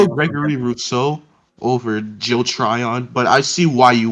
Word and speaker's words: Tryon: I have them going Joe Thuran, edge from Washington. Wait, Okay. pronounce that name correctly. Try, so I can try and help and translate for you. Joe Tryon. Uh-huh. Tryon.